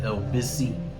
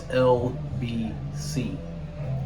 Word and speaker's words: LBC: You can also go to LBC, or here they pronounce it LBC, like L busy, but it's LBC.